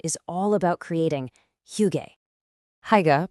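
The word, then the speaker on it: hygge: Higa, pronounced huga, is a huge part of Nordic culture and it's totally connected to their environment.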